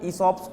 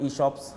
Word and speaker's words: ESOP: के बाद सब लोग ESOPs की वैल्यू समझ रहे हैं. They are okay with ESOPs now. Some of them could not pronounce it ESOP, they call it eShops.